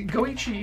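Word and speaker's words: Goichi: that comes right yeah see go Ichi is the pronunciate is yeah but he writes in his 51 because going she is 5-1 in Japanese if it was 51 it would be jugo Ichi but I think it's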